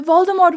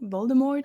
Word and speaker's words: Voldemort: I'll just revive later you don't pronounce it with a t Voldemort right I need to